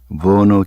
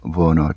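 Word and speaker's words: Werner: 그 이름이 버너 켈러인데 버너 W-E-R-N-E-R 버너 독일 말에서는 W자를 V자로 발음하거든요.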